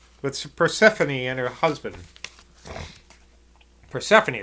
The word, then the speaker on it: Persephone: Persephone, that's how you pronounce that name.